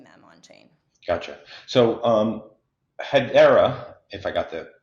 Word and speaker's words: Hedera: So Hedera, if I got the pronunciation right.